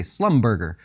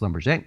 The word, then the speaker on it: Schlumberger: You could say Slumberger, but it is pronounced Schlumberger.